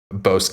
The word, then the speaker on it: Bosque: It's called Bosque or Busque. It's French for grove or forest.